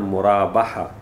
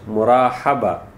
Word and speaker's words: Murabaha: to remember the word Murabaha. Always you will listen this, when if most of people pronounce it wrongly and they pronounce it Murahaba. Yani ha is before ba, but this is wrong.